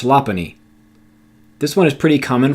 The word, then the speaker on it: Lopunny: I initially pronounced this Lopunny, but it is truthfully pronounced Lopunny.